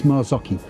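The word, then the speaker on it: Marzocchi: the last question is how do you pronounce a company of suspension it's maraki Mari could couldn't remember that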